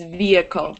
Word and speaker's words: vehicle: but generally um it's vehicle you wouldn't pronounce the h vehicle yeah vehicle yeah